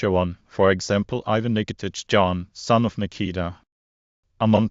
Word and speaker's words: Nikitich: Pronounced Nikitich.